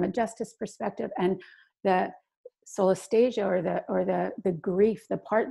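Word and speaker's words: solastalgia: So you talk a bit about, and correct me if I'm not saying it right, solastasia. How would you pronounce that word? Yeah, solastasia.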